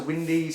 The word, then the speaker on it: windows: as a coo and windows are wendy's and i could go